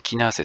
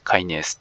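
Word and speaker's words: kinase: ましてえっまあキナーゼってもちろん日本では非常に高貴な汗という発音で通っているわけですけれども海外来て多分キナーゼといってもほとんど通じないんですねこれねカイネスって暦な方が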